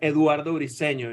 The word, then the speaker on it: Eduardo Briceño: it going I love the way you said Eduardo riceno you know it was perfect I appreciate it